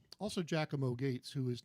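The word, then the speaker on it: Giacomo: And uh anyway, Jack Moates spelled Jakamo, but apparently it's pronounced Jackamo.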